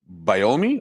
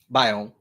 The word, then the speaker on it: biome: Um, the African savannah biomi, is that how you say it? Biome.